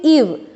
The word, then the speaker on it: eve: उसके बाद देखिए यहाँ पे भी आप लोगों को दो वॉवल्स दिखाई दे रहे हैं, बट हाउ we pronounce it, ईव, EVE, ईव, ईव मतलब संध्या, ठीक है।